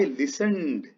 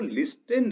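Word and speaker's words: listened: चलिए अगले लाइन देखिए, आई लिसनड। ये देखिए, इसको लिस्टेंड नहीं पढ़ेंगे, इसको लिसन पढ़ेंगे, है ना? इसमें ना क्या पढ़ेंगे? लिसन। ये टी साइलेंट है इसमें, और ये V2 है किसकी?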